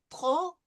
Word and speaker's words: trop: Elle a parlé trop, no pronouncing of the P, vite.